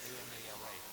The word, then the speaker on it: Amala-bhakta: Amal, A-M-A-L. Okay. Well, actually, the way it's spelled, A-M-A-L-A. Amala. Bhakta. B-H-A-K-T-A.